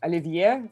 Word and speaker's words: Olivier: Yeah, this is also a very interesting thing that I call it Olivier. So you can hear me saying ah sound.